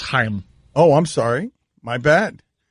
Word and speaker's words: Chaim: manager right does it it's pronounced Heim oh I'm sorry my